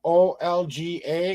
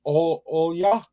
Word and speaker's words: Olga: oh yeah oh yeah is how you pronounce your name it's the o l g a is how it's spelled how it's pronounced it's all ya so that's how we're gonna say all ya so oh yeah kind of it should be Olga in English but it's oh yeah is what she what people would call